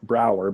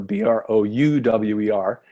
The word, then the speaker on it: Brouwer: So you asked how to pronounce my name earlier, Brouwer, Brouwer, and people ask, what's wrong with the spelling?